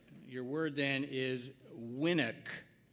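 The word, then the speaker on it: winnock: all right all right your word then is winick it's a noun and it's a Scots word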